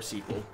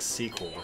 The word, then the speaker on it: SQL: on database Administration yeah you can pronounce um SQL SQL or squl either one works nobody in the uh database world is going to uh get mad at you for pronouncing it one way or the other I'm pretty triggered I